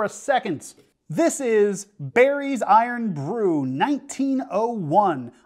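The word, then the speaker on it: Irn-Bru: second this is berri's iron Brew 1901 iron is spelled irn and Brew is spelled BR Ru it's usually not how you spell it it's a fun little way to spell it but this is the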